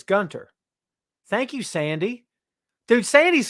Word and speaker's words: Gunther: Sandy says, as a German, the H in Gunther is silent, so it's Gunter.